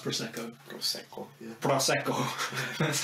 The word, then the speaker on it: Prosecco: Is it pronounced Prosecco? Prosecco, yeah. Prosecco.